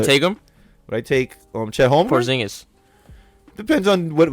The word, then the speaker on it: Chet: I like Chet. I've said that many times. No, you're right. You said it right. I think I said Chad.